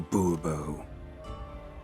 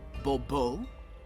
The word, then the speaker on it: Bourbeau: Monsieur de Bourbeau. The emphasis falls on the last syllable. Bourbeau?